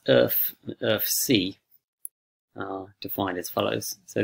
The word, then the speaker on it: erfc: so the error functions um pronounced earth of c are defined as follows